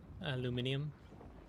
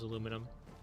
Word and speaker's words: aluminium: I believe they do spell it differently, but the original pronunciation was aluminum. Like the dude who invented it like not invented but like coined the term did pronounce it aluminum and then the British started pronouncing aluminium to distinguish themselves from America and academia.